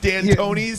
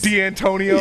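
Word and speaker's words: Dantonio: If they don't get their way, you better pronounce my coach's name right. Remember all those Mike D'Antonis? D'Antonio.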